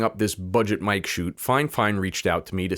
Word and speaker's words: FIFINE: And side note, yeah, I know it's spelled FiFine, but it's supposed to be pronounced fine.